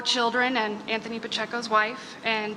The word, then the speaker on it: Pacheco: So I just want to go on record and say it's Pacheco. Pacheco, thank you.